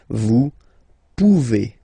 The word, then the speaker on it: pouvez: Remember you pronounce it E. Okay? Vous pouvez.